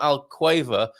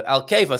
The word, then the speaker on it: Alcava: The U is mute in Alcava, not Alquava, like those great British cheesy crisps, like in Kia and Ki. So Alcava, thank you very much for that.